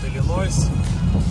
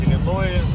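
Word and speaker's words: Illinois: Заезжаю в штат Иллинойс, а правильно говорить Иллинои, и впереди по курсу будет Чикаго.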